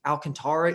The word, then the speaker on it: Alcantara: I think Keller, I think Gibson, I think Alcantara even or Cool are fine. I appreciate that you pronounce his name correctly.